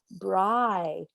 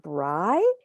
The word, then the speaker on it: Bry: what's your name and she said bry and i said bry and he goes yeah rhymes with rye and as soon as